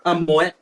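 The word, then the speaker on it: Moët: Moet, you be pronounced as Moet, even though it's French 啦。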